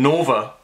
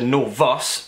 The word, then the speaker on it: Novus: pre-recording 5 minutes ago, I called it the fucking Nova drip tip, and it's not. It's called the Novus, N-O-V-U-S, Novus Mixer drip tip.